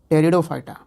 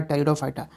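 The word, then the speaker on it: Pteridophyta: गया ब्रायोफाइटा और तीसरा हो गया टेरिडोफाइटा प साइलेंट होगा तो थैलोफाइटा ब्रायोफाइटा टेरिडोफाइटा क्रिप्टोगम तो ये वो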